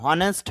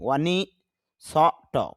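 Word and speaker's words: honest: নে, হনেস্ট এস টি, হনেস্ট এরকম হতে পারে, কিন্তু আইপিএ বলতেছে না, হনেস্ট হবে না, আইপিএতে হলো অ ন ই নি, ওয়ানি স ট, ওয়ানিস্ট। অর আবার স্ট্রেস হবে মানে চাপ হবে, ওয়ানিস্ট অর্থ হলো সৎ।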